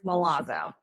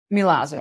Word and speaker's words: Milazzo: Last name is Milazo. Milazo.